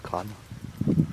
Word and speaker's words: Craonne: Là, nous sommes arrivés sur le site de l'ancien village de Crâne, Craonne, qu'on prononce Crâne.